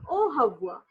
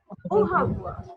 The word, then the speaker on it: Au revoir: O A U as an O, and this is hawa. Okay, we do not pronounce R. We say it ha. Okay. So R is sound, I mean the sound of R is her. Okay. So it will become O Havwa.